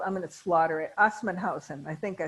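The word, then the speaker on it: Assmannshausen: They're in a commune called, I'm going to slaughter it, Assmannhausen.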